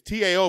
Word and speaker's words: Tao: It's T-A-O, but it's pronounced Tao.